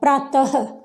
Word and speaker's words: प्रातः: अब इसके साउंड यानी कि इसका उच्चारण क्या हो जाएगा, प्रातः, ह की आवाज आएगी।